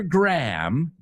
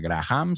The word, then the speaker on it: Graham: Heather Graham. Acuérdate, no se pronuncia Graham, sino Graham.